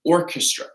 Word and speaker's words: orchestra: They play together in an orchestra, okay? So that's going to be a hard K here.